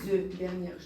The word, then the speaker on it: œuf: Et les œufs, dernière chose, les œufs, on dit un œuf, mais les œufs. Un œuf. Les œufs, en pluriel, on ne prononce pas le F. En singulier, on le prononce.